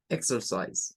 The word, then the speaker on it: exercise: Exercise, exercise. ¿Ven? Esta es una de 3 sílabas. Aquí sí, miren, la X suena a una K y una S, pero se separa.